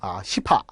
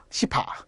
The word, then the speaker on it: 시파: 그게 바로 시파, 벽파. 발음을 좀 잘하셔야 돼요. 시파, 벽파. 그죠?